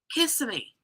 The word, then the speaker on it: Kissimmee: and his mama asked the lady how to pronounce where they are yeah and she was like Kissimmee she's like Mama he said my mama says